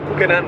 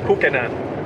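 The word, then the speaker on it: Kukenán: We can find it in the Kukenan River.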